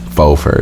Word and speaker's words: faux fur: the last podcast yeah faux fur is how you say it so bow is that really correct yes yeah but it's spelled like FAU X what I learned that